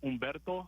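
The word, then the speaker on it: Humberto: Is the H silent in your first name or did I pronounce it correctly? Uh, it's mainly uh Latin. It's like Ombberto.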